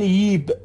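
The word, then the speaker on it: جيب: ببینید دوستان در زبان عربی عراقی در بسیاری از لهجه ها حرف ج رو به صورت ی تلفظ میکنن. مثلا جیب رو میگن ییب به این صورت دوستان، یا جا رو میگن یای به این صورت، یای آمدن.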